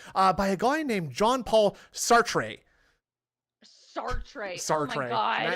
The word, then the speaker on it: Sartre: Jean-Paul Sartre.